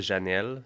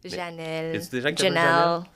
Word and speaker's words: Jheanelle: a c'est jel est-ce que je prononce bien ça me fait très anglophone c'est parfait je commence ça directement ser jamais Janel Janel Janel mieux azilex c'est bien prononcé non azilex AZ on commence le podcast